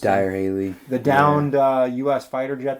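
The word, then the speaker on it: Dyrhólaey: We did exploring around Vic today, and so we saw Dyro Haley, I believe it's pronounced. Dyer Haley.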